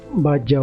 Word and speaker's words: Bajau: Bajau. Termasuk di kamus bahasa Indonesia itu nulisnya bajau, B-A-J-A. Kepereng Kepulauan Bajau. Nah, ejaan lama dia masih pakai B-A-D-J-A-U, bajau. Bajau. Bacanya bajau.